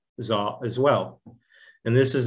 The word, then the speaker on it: dó: It looks like do, but in Vietnamese, this is pronounced zo.